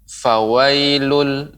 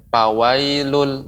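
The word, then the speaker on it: فويل: Fa itu dia adalah huruf yang mengeluarkan nafas, udara. Fawailul ya. Jangan sampai dia tidak mengeluarkan nafas. Misalnya pawailul. Nah, itu keliru. Namun lebih banyak fa. Terkadang orang mengucapkan fawailul sedikit fa, tapi fa.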